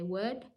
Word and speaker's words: would: w should and could the L is silent we say would should and could just with would and